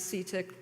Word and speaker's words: CTIIC: integration Center that is ctiic which we pronounce cetic despite the double I it's got two eyes